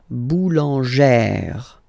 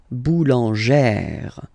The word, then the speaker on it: boulangère: Okay, so boulanger, boulanger, and then feminine form, boulangère, boulangère. Same thing, don't insist too much on the final E. Boulangère.